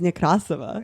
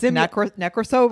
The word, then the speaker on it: Nekrasova: I've never been like, actually, it's like a Russian pronunciation. Yeah. I've never even, my name is Nekrasova. Yeah. And I could, you're like Nekrasova. I came to America, I said my name Nekrasova.